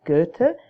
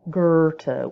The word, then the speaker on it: Goethe: to say the name Goethe. Don't say Goethe as if there's an R there. That's a real tell that that you're not really, well, it doesn't sound great. So just say Goethe.